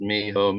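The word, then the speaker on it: mijo: pointed that out that it's pronounced Miho meaning my son and I just thought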